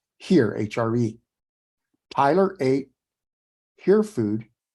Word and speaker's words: hir: here and here HR hir is pronounced as here hre Tyler a hear